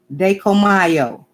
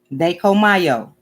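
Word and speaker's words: Dai Ko Myo: And it's pronounced Dekomayo. Dekomayo. Dekomayo.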